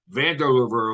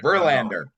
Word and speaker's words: Verlander: told me this last night he called me Vander River or van yeah Jason what's his name uh uh Verlander Berlin Verlander you say the name wrong it